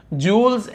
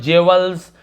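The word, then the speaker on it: jewels: इसका उच्चारण ऐसे, बहुत सारे लोग जेवल्स, ज्वेलरी, ज्वेलरी ऐसे बोलते, जो ज्वेलरी होता है एक्चुअल में तो जूल पढ़ते हैं इसे।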